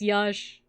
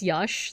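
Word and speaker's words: yax: language no it's not Josh it's Yash it's pronounced Yash like like uh the X makes like a sha sound and for for the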